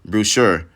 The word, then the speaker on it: Boucher: Talk about one guy who was not on my radar this season for Toronto was Chris Boucher.